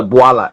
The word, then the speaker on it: Bwala: If you think that what Mr. Bwala Mr. Boala. Can I, is the right Yeah, pronunciation? you pronounce correct, Bola, and I'm a Yes.